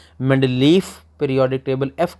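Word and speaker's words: Mendeleev: अगर आप स्पेलिंग पे गौर करें तो स्पेलिंग में वी लिखा हुआ लेकिन मैंने नाम में एफ़ बोला है। एक्चुअली ये रशियन साइंसदान था और रूस के लोग नाम के आखिर में अक्सर एफ़ बोला करते थे, तो इसे आप मेंडलीव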